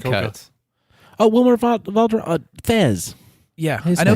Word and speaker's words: Fez: Oh, it's actually FES, and they pronounce it as a Z, and it stands for foreign exchange student, but they never actually discuss that.